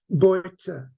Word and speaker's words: Bojte: And the information had that she was born in a town called, spelt in Hungarian, B-O-J-T-E, pronounced in Hungary, Bojta.